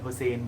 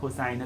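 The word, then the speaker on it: Hossain: hair Hussein Hussein that name is pronounced either way it's also my last name I pronounce it like Hussein but cosign is also a correct pronunciation but either way it's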